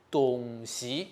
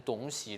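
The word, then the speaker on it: 东西: 好，但是在客家话，东西才是正常的发音哦，千万不要念成东西了哈。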